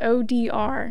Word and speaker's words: Odier: Is it Odier or ODR? I just never say it. No, three letters, ODR. ODR. That's how you say it.